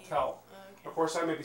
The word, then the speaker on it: tel: it's as I spell tell of course I may be spelling it wrong but I think it's tell it's spelled t-e-l tell and to tell is